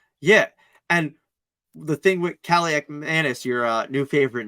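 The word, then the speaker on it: Kaliakmanis: Kaliak Manis.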